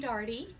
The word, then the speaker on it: Darty: Okay, I'm Darty, rhymes with party.